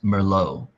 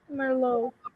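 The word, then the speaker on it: Merlot: In French, the last T is silent. So, the sister's name is Merllo. Merlo.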